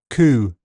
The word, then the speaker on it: coup: The letter P is silent in several common words. Cupboard, receipt, raspberry, psychiatric, psychology, coup, pneumonia, to name a few.